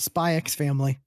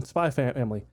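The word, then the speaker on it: Spy × Family: looking forward to it spy X family um spy family I know you don't you don't pronounce the X oh really okay most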